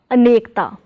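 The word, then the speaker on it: ਅਨੇਕਤਾ: So this word has 3 syllables, a, ne plus ka, nek and ta, a plus nek, anek plus ta, anekta.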